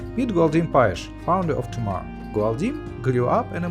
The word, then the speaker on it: Tomar: Tomar, more correctly pronounced Tomar, is a small town 130 kilometers from Lisbon.